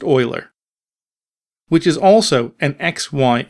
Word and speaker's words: Euler: fixed update right rigid body rotation equals quaternion Euler and yes it is pronounced Euler which is also an XY and Z value